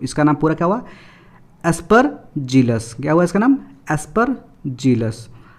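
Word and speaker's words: Aspergillus: से पढ़ते हैं तो डायरेक्टली पीछे वाला का प्रोनाउंसिएशन हम गलती कर देते हैं। तो इसका नाम पूरा क्या हुआ? एस्परजिलस।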